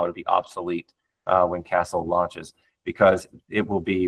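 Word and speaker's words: Qastle: impressive, if not more, and that is uh Castle. And it's spelled with a Q. So, it's QA SL E. Castle.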